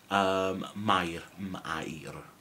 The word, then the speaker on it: Mair: Mair, Mair.